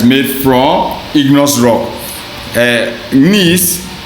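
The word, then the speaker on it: gneiss: from igneous rock uh nice you pronounce this G salad nice is made from granite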